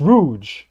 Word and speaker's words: Rouge: It's Rouge. That's the pronunciation of it.